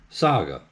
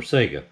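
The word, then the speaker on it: 嵯峨: an 812 hosted by emperor saga or sega s-a-g-a but sakura were revered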